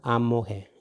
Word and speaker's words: amohe: But this is amohe. As you can see, mo. This is not, it's not the mu, u. It is mo, amo, amohe. And then this again, the light E, he, amohe, amohe.